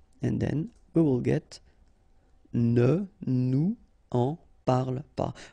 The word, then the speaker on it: ne nous en parle pas: Okay, sorry for the examples, but I tend to not to make the liaison when I make these little examples, just because I think it's more clear not to make the liaison, okay? But then, of course, parle-nous-en, ne nous en parle pas should be the way you should pronounce them, okay?